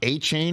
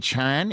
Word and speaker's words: Achane: night that he won it's not a chain it's Han is that is that